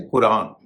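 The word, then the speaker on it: Quran: अरबी नामों में जब क्यू आता है तो उसका उच्चारण क के साथ जो नुक्ता लगा होता है। जैसे कतर कतर में क्यू ए टी ए R Qatar. उसी तरह से कुरान कुरान में भी क्यू जो है शुरू में है उसका उच्चारण हो रहा है ग चीनी नाव में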